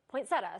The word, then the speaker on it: poinsettia: customer wants to call it but he prefers poinsettia so that's what we went with but authoritative